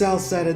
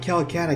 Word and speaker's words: Celceta: It's like, it's pronounced Celceta, not Calcutta.